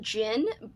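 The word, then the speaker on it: Djinn: up we have the gin i believe it's how you say it i think the d is silent by graham masterden this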